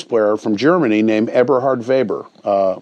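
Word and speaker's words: Weber: from Germany named Eberhard vber uh with a W pronounced with a V and I when I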